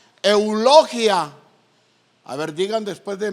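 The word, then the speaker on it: εὐλογία: Entonces, fíjense bien, esta palabra bendición del griego, que se pronuncia eulogia. A ver, digan después de mí, eulogia. O sea, ¿usted está hablando qué? Un idioma griego. Y esta palabra eulogia significa, hermano, fíjense bien, pongan atención, un don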